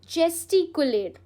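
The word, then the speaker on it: gesticulate: It's pronounced as चेस्टिकुलेट।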